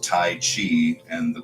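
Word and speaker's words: 太极: called right it's really in modern Chinese pronounced Dai like a d and a j not taii but it depends on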